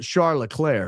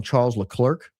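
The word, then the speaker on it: Charles Leclerc: Some of the teams uh are British and don't refer to the uh French pronunciation oflair and they call him Charles L Clerk instead of Charlotte. And so I have to stop myself all the time from calling him Charles Clerk.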